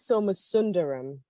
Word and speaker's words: Somasundaram: I think I said your name wrong. I'm always worried I'm going to pronounce it I'm worried incorrectly. too. It is Somasundaram. Somasundaram.